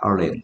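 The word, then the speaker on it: island: 아일랜드 섬. 아이슬란드라고 하면 안 돼. 아일랜드야. S가 발음이 안 돼.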